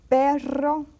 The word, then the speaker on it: perro: R, when it's double R, you say carro, which is an automobile, and perro, which is a dog.